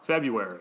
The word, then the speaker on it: February: the first R in February. How do you say February? I like it. I just skipped that R. February. I mean, yes, it's silent.